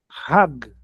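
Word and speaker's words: חג: O R é bem arrastado, então eu vou forçar bem na garganta. Hag. Hag.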